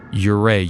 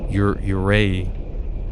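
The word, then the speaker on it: yūrei: forest I probably butchered that word uray you y u re EI I there's a there's a little line above the U like an accent uray uray vengful spirit said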